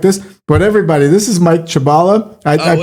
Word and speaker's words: Mike Chabala: But everybody, this is Mike Chabala. I I pronounced it right.